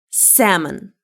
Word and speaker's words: salmon: It's salmon. L is silent here. Salmon.